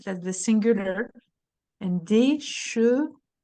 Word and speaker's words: chevaux: And des chevaux. O. We need the sound O, otherwise, what I'm going to understand is cheveux.